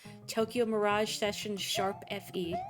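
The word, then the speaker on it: Tokyo Mirage Sessions ♯FE: Ros just typed out Tokyo Mirage session sharp Fe that's how you say it so many series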